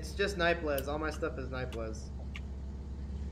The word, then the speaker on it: Nightbliz: Is it Nightblaze? Yeah, it's just Nightblaze. Correct, this is how it's spelled in here. There we go. B-L-I-Z.